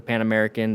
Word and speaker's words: Pan America: Is it the Pan American?